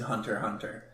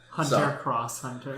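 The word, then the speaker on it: Hunter × Hunter: Hunter Hunter is but you do not say the X in Hunter Hunter Hunter cross Hunter God I heard someone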